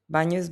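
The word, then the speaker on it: bagno: It sounds like ny in canyon or onion. It's bo's bathroom and of course you all know what what this is.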